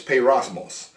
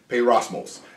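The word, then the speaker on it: πειρασμός: me make sure I say it right, it's peirosmos. Peirosmos. And the reason this word, I want to bring up this Greek word peirosmos, because if you go back once again to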